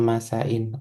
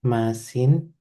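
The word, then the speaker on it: ܡܐܣܝܢ: Tapi adalah masain, adanya masain. Jadi bukan masin, bukan masin seperti itu, tapi bukan mem olaf,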